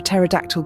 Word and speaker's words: pterodactyl: Ever wondered why we never hear a pterodactyl go to the bathroom? Because the P is silent.